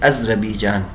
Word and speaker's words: آذربائیجان: یہ آذربائیجان میں ہے، اور آذربائیجان بفتح الالف الف کے فتح کے ساتھ بھی اور اس کے بعد ساکن ہے، یعنی اذربیجان، یہ انہوں نے تلفظ لکھا ہے اذربیجان. اور بعض کہتے ہیں کہ مد کے ساتھ، یعنی آزر کے ساتھ.